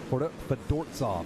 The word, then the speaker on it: Fedortsov: Fedortsov, that's how you pronounce it.